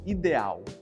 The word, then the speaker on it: ideal: que é a palavra ideal. Em inglês vai se pronunciar um pouco diferente. Ideal. Repare como o som do i fica mais alongado.